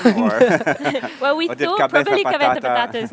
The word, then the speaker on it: Cabeza Patata: But she found very, very funny the word Cabeza Patata. It has so many A's. And it's so open, like Cabeza, like how you say it in Spanish.